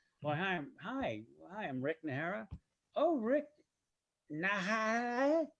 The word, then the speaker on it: Najera: nara oh rick nah it's nara hey okay look it's no big deal rick because it was just correct no no i want to get your name right i want to say it correctly because the j is like an h sound right it's a j